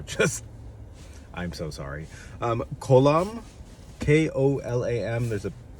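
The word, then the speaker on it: kolam: of art called the i can't i'm gonna pronounce this wrong so just i'm so sorry um column k-o-l-a-m there's a accent mark over the o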